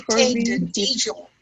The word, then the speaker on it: Dijon: Dijon, like the mustard, Dijon.